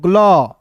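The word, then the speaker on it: glow: ग्ल ओ डब्ल्यू है तो इसका उच्चारण ओ के रूप में तो ग्लो हो जाएगा।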